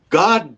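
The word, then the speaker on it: Geaux: us called grab and go but it's spelled like Louisiana go g-e-a-u-x and uh they have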